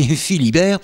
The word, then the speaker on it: Fillibert: Enfant des pays aux couleurs de la sidérurgie, on peut dire que pour Yves Manderveld, mais prononcé Philibert, la coulée continue serpente encore dans son esprit et son art sculptural et poétique.